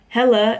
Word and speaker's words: Helle: So our main character is Torben Helle. I think he makes a joke that it shouldn't be pronounced Hell. That's 2 syllables, so I'm assuming that means it's Helle.